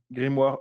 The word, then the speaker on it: grimoire: a to that's called grimoire grimoire which is very hard to pronounce for me at least in English so I will just say it the the French way and the IDE is